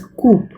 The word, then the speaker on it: coup: The third is coup, pronounced as coup, is a noun which means sudden or violent seizure of power from government.